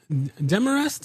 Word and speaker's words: Demarest: Dearrest is the correct pronunciation.